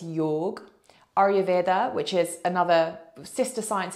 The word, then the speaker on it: Ayurveda: But again, Ayurveda, egg on the end. Actually, many people pronounce that Ayurved.